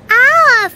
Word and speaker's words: our: Se pronuncia muy parecido. Es agua, our, our.